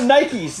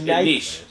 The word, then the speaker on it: niche: No, Nikes. N-I-C-H-E-S. Niche. Like choke, right? Like oh, no, Nikes. We can go with Nikes. Nikes in the walls on either side. They get next to the obelisk. It's pronounced niche.